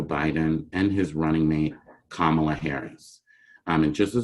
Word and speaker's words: Kamala: and his running mate kamala harris i mean just as a point of reference it's pronounced kamala like the comma with allah it really irks me